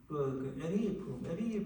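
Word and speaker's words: Erich: 제가 참 대학 다닐 때요, 우리 선생님이 책을 한번 읽어라 하는데 그 책 제목이 미국의 유명한 사회학자가 지은 에리 프롬이라는 독일계 미국 사람이었습니다. 독일계 에리라는 발음이 독일식 발음이에요.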